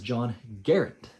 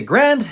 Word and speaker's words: Garand: Guys, his name was John Garand. At least that's what his family says is the correct pronunciation, or closest to the correct pronunciation. It rhymes with errand.